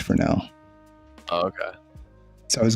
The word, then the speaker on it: Fresnel: So it's Fresnel. Oh, okay. So I was going to do a Fresnel shader on this, but then I realized the